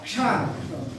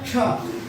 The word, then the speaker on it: क्ष: इसे क मूर्धन्य सकार और का को बोलने से, ये का है, ये है मूर्धन्य सकार। जब इसका उच्चारण हम करेंगे तो ये हो जाएगा क्ष। इसको एक साथ बोलेंगे क और स, कस निकलता है, तो इसका उच्चारण बदल करके हो जाता है क्ष।